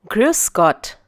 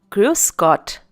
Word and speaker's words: Grüß Gott: Grüß Gott. Once again, Grüß Gott.